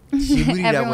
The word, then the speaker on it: Ghibli: 그리고 보니까 스튜디오 기블리를 How do you say that? Is that in Korean? Is it Ghibli? 지브리라고 해요?